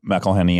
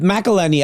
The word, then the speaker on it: McElhenney: You, Rob McElhenney, and I.